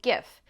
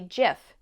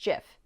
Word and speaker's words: GIF: it's supposed to be GIF. In 2013, he told the New York Times, quote, "The Oxford English Dictionary accepts both pronunciations. They are wrong. It is a soft G, pronounced GIF.